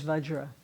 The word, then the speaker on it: Vajra: The most Tibetans pronounce Vajra Bendra. Now, bodhisattva learned was the Buddha Purification. Right. What is Benja? Benza is Vajra. It's the same thing. Okay. So, It's the way Tibetans pronounce the word Vajra.